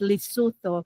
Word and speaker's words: Lesotho: That's how they're it's pronounced, Lesotho.